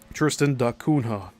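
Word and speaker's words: Tristan da Cunha: Tristan Dakunha spelled cu n h a much further south roughly parallel with the bottom of the African continent.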